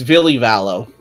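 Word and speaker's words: Ville Valo: yeah the band's thing yeah how do you pronounce his name villavallo um I remember correctly it's Billy valo Villa okay and I just I I don't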